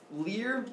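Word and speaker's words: lyre: he's got that little Lear it's called l y re e becomes a guitar later on liar but it's you call me a liar it's right up there sometimes pronounced liar or Le and so it's there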